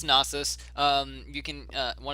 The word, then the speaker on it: Nasus: and the nasis a nasus I pronounced a nasus but that might be wrong uh it's nasus um you can uh